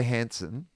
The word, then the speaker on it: Hansen: And then the guy who's playing Monkey, Chai Hansen, He's very handsome. he's very handsome. Rhymes with handsome. Hansen.